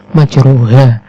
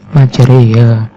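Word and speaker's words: مجراها: badai terdapat bacaan atau lafal majroha yang dibaca imalah menjadi majreha ataupun apel atau bunyi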